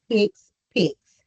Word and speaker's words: HCPCS: Some people see that word and it's like HCPCS it is pronounced "hicks-picks".